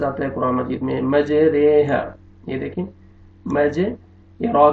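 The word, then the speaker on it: مجريها: یہ کے ساتھ، قطرے، اس کو آپ نے پڑھنا اس طرح ہے، مجریہا، مجریہا نہیں پڑھنے گے، اس کا تلفظ کیسے ہوگا؟ مجریہا۔ یہ ایک لفظ ہے جس کو اس طرح اس کو پڑھا جائے گا، مجریہا، مجریہا نہیں پڑھنا آپ نے، بس آپ نے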